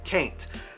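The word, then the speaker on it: cain't: forgot sorry about that the word kaint is basically the exact same as can't occasionally we just pronounce it as if we put a c at the beginning of ain't cait they can't do it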